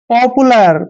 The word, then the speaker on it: पॉपुलर: देखिए पी का उच्चारण हम पे करते हैं हमेशा, ओ को ओ की मात्रा पढ़ते हैं और पी का उच्चारण हम पे करेंगे। और देखिए यहाँ पर यू को हमने ऊ की मात्रा लिखना है, एल को ले लिखते हैं, AR का उच्चारण रे करते हैं।